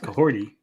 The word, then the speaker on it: Kahorti: Kahorti, pronounced Cahorti, is a real Wolf Clan name, meaning she stirs the forest or is someone who motivates those around her.